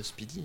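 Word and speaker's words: SPDY: Et puis Google trouvait ça un petit peu old school et lent, alors ils ont sorti Speedy, ça se prononce Speedy, hein.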